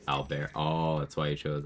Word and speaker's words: Albert: They're like, well, in French it's pronounced Albert.